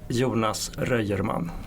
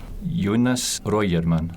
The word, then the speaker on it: Röjerman: Jonas Röjerman. Jonas Röjerman.